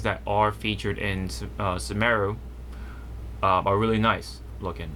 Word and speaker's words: Sumeru: of forget is that in japanese if you play in japanese the way they pronounce um sumero is kind of just saying like saying um smell in japanese but with that sort